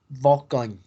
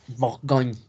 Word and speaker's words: Bourgogne: La Borgoña en español es Bourgogne. Esa G con una N funge como una ñ. Entonces es Bourgogne.